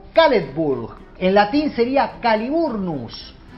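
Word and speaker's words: Caledfwlch: de esta manera, pero se pronuncia, si mis fuentes son correctas, algo así como Caledburg.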